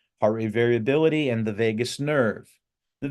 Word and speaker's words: vagus: story which is that the word Vegas isn't spelled like Las Vegas it's vagus v a s which in Latin means